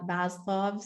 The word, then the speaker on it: Maslow: Okay, so this reminded me of the hierarchy of needs, which Maslow's, is that how we pronounce it?